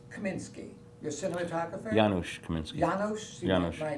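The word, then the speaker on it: Janusz: Uh Jarus Kaminsky, your cinematographer, Yanosh Kaminsky. Yanosh. My pronunciation is probably looked You thought the N was an R.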